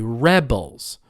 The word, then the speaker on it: rebel: one yeah everybody say rebels rebels she is a rebel it's on the first syllable how about the action